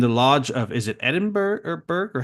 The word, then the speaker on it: Edinburgh: And the lodge of, is it Edinburgh or how would you say that, Robert? Yeah, it would be pronounced Edinburgh.